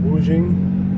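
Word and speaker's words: Wuxing: scooter same company uh I think it's pronounced wujin it's a w-u-x-i-n-g um it's the same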